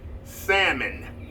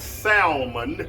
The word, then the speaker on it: salmon: This is salmon, not salmon. The L is silent, as my 8-year-old grandson Roman often tells me.